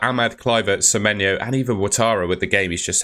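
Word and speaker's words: Ouattara: there's potential that Ahmad cver seeno and even watara with the game he's just had you could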